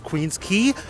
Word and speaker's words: Queens Quay: bit down this street which is Queen's key um it's spelled like Queens Quay don't let that throw you you're gonna get